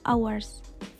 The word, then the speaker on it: hours: Contoh huruf lainnya itu ada H pada hours. Kebanyakan orang membacanya itu hours, bukan hours. Padahal yang benarnya itu adalah hours.